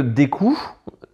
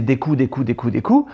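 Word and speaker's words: Deku: noix, les bâtons, et nous on disait dans les locaux de Nintendo au Japon, on disait des coups, sauf qu'il n'y a pas de voix. Et personne ne le prononce. Donc quand tu le lis, c'est marqué D-E-K-U. Donc tu peux dire de cul.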